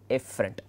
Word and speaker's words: efferent: These two, the pronunciation of both are somewhat confusing. One is afferent, the other one is efferent.